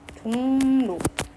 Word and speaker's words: 종로: 볼게요 여기 빈칸에다가 적어보면 종로 보면 종목 발음 어떻게 하냐면 종로라고 발음하는게 표준 발음이거든요 이응 뒤에 리을이 오잖아요 그러면이 리을이 니은으로 바뀝니다 요것도 비움말은 된다는 뜻이에요